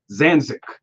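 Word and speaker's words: Zidanšek: you both are wrong it's zanzic zanzic zanzic so z-i-d-a and s-e-k SE seems like a lot more than what it should be for zanza is she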